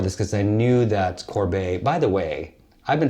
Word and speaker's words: Corbet: in preparation for this because I knew that Corbet by the way I've been talking about this